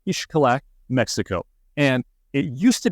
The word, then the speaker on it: Xcalak: influences from the language down there anyhow it's pronounced ishak Mexico and it used to be kind of